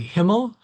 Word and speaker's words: HMML: H M M L is always a mouthful to say, and so we have adopted the spelt the pronunciation many of us of saying simply Himmel, which has the double meaning, of course, for German speakers as being the word for heaven.